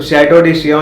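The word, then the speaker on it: Château de Chillon: चिल्लन लगता है पढ़ने में पर उसे शिया बोलते हैं। करेक्ट प्रोनाउंसिएशन जो है। तो शैडो डी शिया जाए और वहां से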